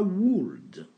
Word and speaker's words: would: Ne dites pas would. On ne prononce pas le L. Donc ça donne would.